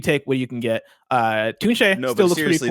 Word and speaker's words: Tunche: It's not Tunchi, it's Tunche.